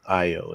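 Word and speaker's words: Ayo: Mufasa The Lion King AO adini I don't remember know I pronounced her last name but I like her IO is actually how her first name is pronounced inside out too and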